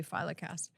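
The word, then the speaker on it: philocalist: E H I L O C A L I S T. Filiccast. A lover of beauty. Someone who finds beauty in all things.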